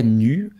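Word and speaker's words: Neue: qui s'avait appelée Helvetica Nu, en allemand, comme ça. Attention, il faut prononcer à la Suisse allemande.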